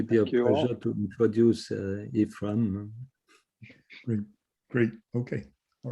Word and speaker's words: Aephraim: don't think that's embarrassing it's pronounced ephraim ephraim okay thank you very